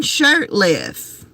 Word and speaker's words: Shurtliff: Shurtliff. Brandon Shurtliff. Instead of like a shirt, like you would spell it S-H-I-R-T, it's S-H-U-R-T-L-I-F-F.